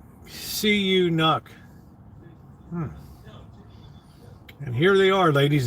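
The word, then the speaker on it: Canucks: to win it's good it's not pronounced like that it's CU you knok and here they are ladies and gentlemen your Vancouver SE you knock let's get ready to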